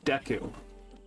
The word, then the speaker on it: Deku: Oh, Deku. I've heard it said Deku, but I always say Deku.